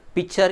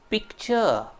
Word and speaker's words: picture: The correct pronunciation is picture. What is the correct pronunciation? Picture. C is there, so k is there, so you have to pronounce it as like a picture.